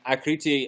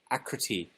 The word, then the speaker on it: Akriti: I like how you say my name, Akriti. It's actually with a soft tea. How do you do a soft tea? Acriti.